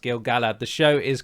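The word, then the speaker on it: Gil-galad: happens to be Galadriel Kier Dan and um gilgalad I say gilgalad but it should be pronounced gilgalla the show is correct but I'm so used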